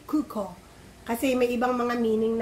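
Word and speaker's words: 空港: Naka-emphasize talaga ang U tsaka O. Kaya yung nakakagandahan, no? Kasi kailangan mo talagang i-pronounce it correctly, kuko.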